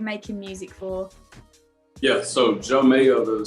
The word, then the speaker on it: Jeaux Mayo: long you've been making music for yeah so joe mayo the spelling of joe is a j-e-a-u-x which